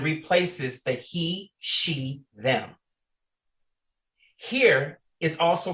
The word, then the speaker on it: hir: Here is also pronounced like here and replaces the here, her, hers, him, his, they, theirs.